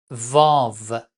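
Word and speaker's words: واو: La lettre suivante, Vav. Son nom est Vav, mais on prononce V. En arabe, on prononce we, mais en persan, on prononce très fort V, V. Il ne faut pas dire we, V.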